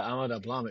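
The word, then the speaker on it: Ama Dablam: wonderful trip to the matorn of the Himalayas amadam is that how you pronounce it tell us about that yeah yeah amadam it means uh mother's necklace yeah that mountain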